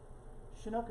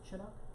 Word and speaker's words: Chinook: And by the way, did you know shinook is actually pronounced chinook with their hard ch like cheese?